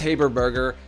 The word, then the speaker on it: Haberberger: the show please join me in welcoming liz haberberger to the show liz thank you so much